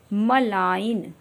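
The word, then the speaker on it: malign: ऐसे भी मिले जि मलाइन बिनाइन इस तरह के सभी वर्ड्स में जो जी साउ लेटर है वो हमारा साइलेंट है डिजाइन मींस होता है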